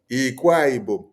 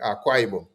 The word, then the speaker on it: Akwa Ibom: You say, this man speaking, Ikwa Igbo.